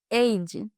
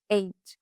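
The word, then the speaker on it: עד: Então, a origem da palavra no hebraico, a origem da palavra testemunha, vou deixar aqui a palavra, mas se pronuncia eid, eid.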